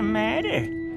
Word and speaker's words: matter: These movie characters are American, so they transform this into a tap t, which sounds like a soft d.